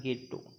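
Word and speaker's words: ghetto: इसमें एक word use किया गया है घेट्टो। अब घेट्टो ऐसी बस्ती को हम कहेंगे, ठीक है, ये इटालियन प्रोनाउंसिएशन होता है गेट्टो।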